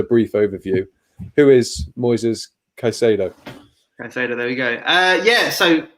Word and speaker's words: Caicedo: we will bring in the Ecuadorian youngster Moises Caicedo, I believe he's pronounced. You can correct me on that, Simon. I can't imagine I've got it spot on. Moises Caicedo. Caicedo, there we go.